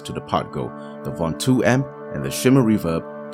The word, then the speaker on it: Ventoux: Yes, it's pronounced Ventoux according to Google. Ventoux.